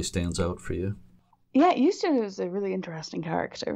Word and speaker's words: Eustace: Eustace, that's how you pronounce it, right? Eustace yes.